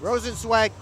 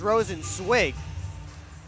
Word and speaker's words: Rosenzweig: Rosenzweig must have changed his pronunciation or actually clarified it at some point this season. Last year it was Rosenzweig when he was with the Watertown Wolves. This year Rosenzweig.